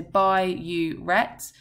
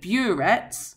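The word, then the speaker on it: biuret: another bright blue solution I'm just emphasize the pronunciation here so by you Rhett because often students call it burets which is incorrect that is a piece of equipment that you use in chemistry so bioret is the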